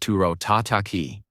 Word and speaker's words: toro tataki: Actually, sir, it's pronounced turro tataki. The O sounds are longer in Japanese.